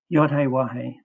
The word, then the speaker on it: Yahweh: I use W rather than V for the sixth Hebrew letter. Yahe is our creator's shem, his name.